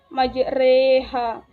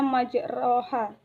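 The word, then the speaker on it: مجريها: terdapat pada ayat 41 bacaan majreha situ dalam Alquran terbacanya majroha tetapi dalam isi malah itu diganti dengan huruf reggae jadi majreha Hai yang ketiga ismam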